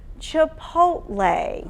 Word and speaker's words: Chipotle: All right, so the correct pronunciation is Chipotle.